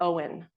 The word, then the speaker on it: Owen: Well, as Dennis explained to me, not only does it sound like a first name, but it also sounds like the word own, as in to possess or belong to.